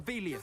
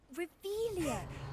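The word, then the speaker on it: Revelio: You're Revelius. saying it wrong. Ugh, Revelia.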